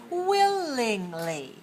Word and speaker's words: willingly: let's say this word willingly willingly good willingly how many syllables three where's the stress willingly 31 very good stress on the first syllable willing if you are